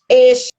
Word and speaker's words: ella: Eixa. Então, é uma pronúncia como se fosse um X, como se fosse escrito com X.